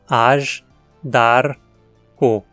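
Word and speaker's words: Azhdarcho: Separando as sílabas, temos AJ, DAR, CO. DAR termina em consoante, então leva o acento.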